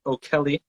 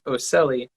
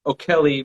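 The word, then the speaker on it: ocelli: have what are called o'kelly um i used to pronounce this as oceli i was gonna ask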